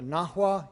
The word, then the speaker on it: Nahua: I'm talking about the Aztecs, but really, properly speaking, I'm talking about the Nahua, N-A-H-U-A, because the Nahua were the Aztecs were